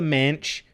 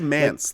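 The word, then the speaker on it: Manse: This is Dance of the Manch, short for mansion. Yeah, it is Mance though. It rhymes with dance. It is Dance of the Mance, but we love to abbreviate cards.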